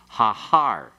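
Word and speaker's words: הָהָר: And when we put the article on it, you lengthen also the pathic under that initial he and becomes hahar.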